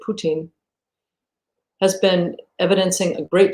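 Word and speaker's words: Путин: know that over time poutine and i've heard his name is pronounced that way in russian so i'll try to say it putin has been evidencing a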